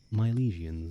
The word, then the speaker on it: Milesians: The climax coming with the arrivals of the Milesians. I always Mylesians I think is usually how I hear it pronounced.